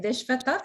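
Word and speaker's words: विश्वतः: Only thing is the vi in Vishvatas should be down, not middle.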